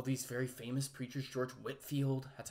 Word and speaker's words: Whitefield: very famous preachers george whitfield that's how you pronounce that name i know it looks like whitefield it's pronounced whitfield was the minister of